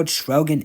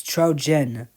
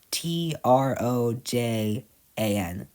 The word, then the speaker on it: Trojan: Now, Trogan egg. So, Trogan egg is Yeah, it's some What does Oh, wait. Am I pronouncing it wrong? It's Trojan. T R O J A N.